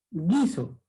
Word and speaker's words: guiso: Guiso. Gui. No se pronuncia la U. Solamente la I.